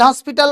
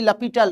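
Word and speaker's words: L'Hôpital: এল হসপিটাল rule বা লাফিটাল rule actually লাপিটাল রুলঅপস্ট্রফির পরে এইচ থাকা মানে সেটা উচ্চারণ হয় না।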